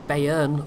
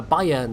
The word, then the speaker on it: Bayern: at tier six at the moment cuz the Bayern or no uh Bayern there we go somebody uh told me the